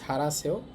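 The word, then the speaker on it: 잘하세요: অমনি কেস মা ইউরিরুল রান্না, ঝাড়াসেও, ঝাল মানে ভালো, হাসেও মানে করেন, বাট একত্রে উচ্চারণ হবে ঝাড়াসেও ভালো করেন, মা রান্না ভালো করেন।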